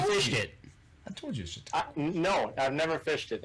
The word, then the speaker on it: Chautauqua: Okay, we'll let you pronounce the lake name. Chautauqua. Have you fished it? I told you Chautauqua.